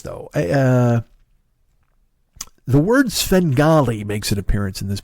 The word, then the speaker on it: Svengali: I didn't care for the pronunciation of Svengali um I mean again fantastic work amazing and I'm not picking nits here uh but I will say when the guy says fungali I got a shiver I was like I